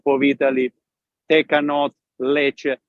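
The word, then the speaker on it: Lecce: Italy take a note Le it spells l e c c e and it sounds just like milk in Spanish leer exactly the same spells different but you pronounce the same it's beautiful Beau I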